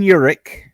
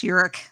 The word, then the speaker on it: Urich: Ben Urich, or Urich. I think it's Urich. Urich, like Urukai.